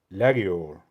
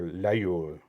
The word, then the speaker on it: Laguiole: Oh, I skipped the how do you pronounce this? Laguiole, or Laguiole.